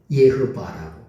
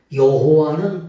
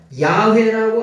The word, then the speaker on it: 예흐바: 예흐바라고. 요게 뭐냐면 우리가 믿는 하나님을 여호와 하나님이라 그러죠. 여호와는 독일 발음. 예흐바는 뭐냐? 히브리 원래 발음.